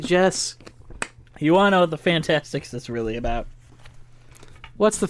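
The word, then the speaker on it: The Fantasticks: have the Fantastics so it's called Fantastics um it's called the Fantastics but it's spelled s-t-i-c-k-s um a very important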